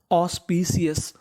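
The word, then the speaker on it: auspicious: AU को पढ़ते हम लोग इंग्लिश में ओ। क्या पढ़ते हैं? ओ। यानी आपको इंग्लिश में कहीं पर AU लिखा मिले तो उसका उच्चारण करना है ओ।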